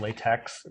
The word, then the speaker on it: LaTeX: LA is spelled latex, but people say it LaTeX.